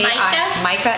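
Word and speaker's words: Maika: It's by um, how would you pronounce that? M A Micah.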